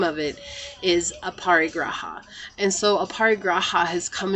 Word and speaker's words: aparigraha: it into but the name of it is aparigraha and so aparigraha has come into my life